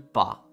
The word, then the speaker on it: pas: do e il Not I francesi hanno il pa Cioè dopo il n Che vuol dire sostanzialmente